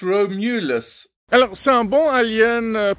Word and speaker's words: Romulus: alien Romulus hein Romulus non en fait on prononce Romulus alors c'est un bon alien par rapport à